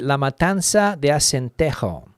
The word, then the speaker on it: La Matanza de Acentejo: La Matanza de Acentejo. With my pronunciation. In the Canary Islands, it would be La Matanza de Acentejo. So that would be the pronunciation down there.